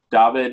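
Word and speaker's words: Dawid: And for those who are not Polish, David is spelled with a W in the middle. That's pronounced like a V.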